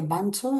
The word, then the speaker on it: Bunzo: inspirado en el Tangle Bunzo. Se pronuncia bancho en inglés, pero es bunzo.